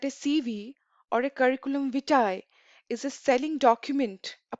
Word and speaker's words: vitae: Now, it's a often curriculum vitae or CV is pronounced as vitae, but the correct pronunciation is vitae.